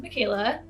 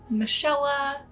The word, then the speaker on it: Michaela: My name is Michaela. It's spelt like Michael with an A at the end. My whole life through school, I was always called Michaela, Michella.